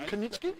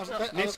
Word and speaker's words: Nitschke: That was a silent K at the start of that. Yeah, no. Kanitsky? No, Nitsky. that'd be like knife.